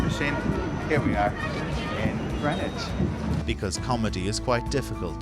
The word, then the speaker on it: Greenwich: And just like magic, you emerge into the sunlight of Greenwich, a place where you don't pronounce one of the E's or the W.